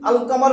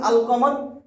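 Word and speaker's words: القمر: পরেশিন নাটা হলশামসি হরফ আর যদি আল কামার বলেন দেখেন আল কামার আলিফ লামের পরে কফটা হল কি লামের উচ্চারণ হইছে আল কামার লামের উচ্চারণটা হইছে তাহলে এটা কমার হরফ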